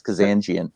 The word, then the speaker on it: Kazanjian: pronunciation of i'm like no i'm kidding it's kazanjian and then it confuses